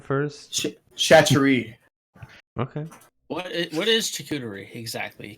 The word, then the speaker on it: charcuterie: Me and the wife call them chachari boards. How do you say it? Charcuterie? I say Charcuterie.